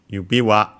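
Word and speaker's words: 指輪: Let's check again the accent. We have seen it before for yubi wa, but to be honest, I'm not completely sure. I think it's unaccented, but yes, unaccented. I was right.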